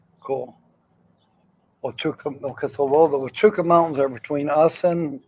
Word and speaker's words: Huachuca: Those are called the Huachucas. The Huachucas? That's the Huachuca Mountains. The Huachuca Mountains. That's how you say it.